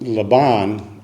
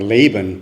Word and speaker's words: Laban: so after a month Le Bon or Laban depending how you want to pronounce his name asks Jacob or you've